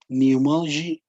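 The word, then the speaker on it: pneumology: specialist is called neomologist notice pronunciation neomology pneumologist okay so i also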